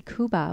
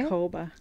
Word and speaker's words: Kouba: podcast we have a guest we've got kuba with inspired signals so welcome thank you for being on did I say your last name wrong yeah okay how do you say Hova Hova I've been I've known you for what